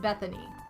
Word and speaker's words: Bethany: me it's my my name is pronounced bethany like that'd be like an e not no one tells me beth okay well pixie calls